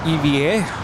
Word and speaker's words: EVA Air: Kevin refuses to go with it, but apparently it's pronounced EVA.